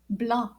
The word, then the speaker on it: blanc: here we go so white in French is pronounced blah can you try that blah and it's spelled